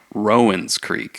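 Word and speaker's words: Rowan Creek: actually heard that The Distillery says the correct pronunciation is Rowen Creek which is not like the county really here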